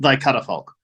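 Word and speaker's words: Thy Catafalque: wrong for years uh apparently it's it's pronounced thy cut a folk um and uh yeah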